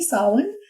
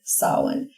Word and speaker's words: Samhain: And I also want to say Happy Samhain to those of you who celebrate, and just